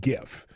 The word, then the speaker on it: GIF: you know just is GIF is a hard G well I know because the G stands for graphics but I there's still